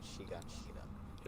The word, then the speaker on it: Shiganshina: They pronounce it Shiganshina.